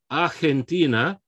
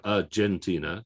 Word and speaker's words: Argentina: this is an example of that g because it's before an e being a soft sounding like an h it's not in english we have argentina j like a j sound right uh in spanish okay we've got an h sound canada okay what's another